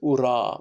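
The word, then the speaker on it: ура: But Russians pronounce it ura, but not huzzah.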